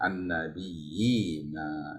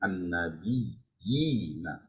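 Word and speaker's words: النبيين: Ya an-nabiyina ya ditamkinkan, ditekan an-nabiyina ya, jangan hanya sekedar an-nabiyina, itu belum namanya mad ya. An-nabiyina yina. Seperti itu.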